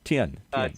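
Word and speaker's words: Tien: know vince trent 10 how do you say your last name 10 t-i-e-n okay okay so here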